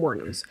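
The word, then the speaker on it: Wuornos: I think it's how you spell it, but that's how you pronounce Wournos.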